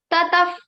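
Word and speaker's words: ततः: So the Visarga sound will be like pha. PH in the bracket. It is already written in your books. Tataf padam tat parimargitavyam. You have to say tataf.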